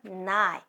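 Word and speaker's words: 九: 9 means 9. It sounds like English name Jewel. 9. My hand can go like this. 9. 9. It looks like the number 9.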